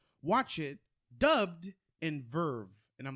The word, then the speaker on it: VRV: And there's also another platform called VRV or Verve, I think is literally how they pronounce it.